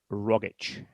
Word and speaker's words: Rogic: pronunciation in his name the actual pronunciation of his name as he says his own name is tom rogic right okay and i'll